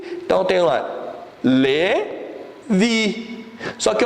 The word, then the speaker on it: Levi: É como se fosse Levi Y daí no final, tá? Como fosse colocar, fosse transliterizar para o português, colocaria L-E-V-I-Y. Que seria a pronúncia, seria o quê? Levi.